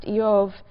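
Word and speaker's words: Iyov: The name Job, which in Hebrew is pronounced Yov, um is sort of balent in meaning.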